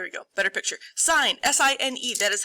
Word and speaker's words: sine: intelligent at all you should not call it sin you should call it the sine of theta even though when we write it we don't write the e now notice i put